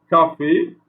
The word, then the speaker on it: café: Ici, café, d'accord? Donc C devant le A, il n'y a pas de cédille, ça se prononce ça se prononce K, pardon.